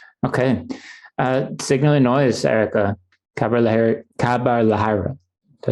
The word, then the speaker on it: Khabar Lahariya: Khabar Lahariya. Did I say it right? Khabar Lahariya. Khabar Lahariya. Not even close. It's a tough one. You have to roll your R's, Rob, I think.